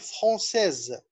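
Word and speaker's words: française: لما يبقى عندي اس زي ما شفنا في كلمة فرانسيز، اس قبليها فويل وبعديها فويل، فالاس ما اتنطقتش اس، بقت تحولت لزد، فنقول فرانسيز. واضح؟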